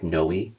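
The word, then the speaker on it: Noe: It's spelled N O E, like knowi.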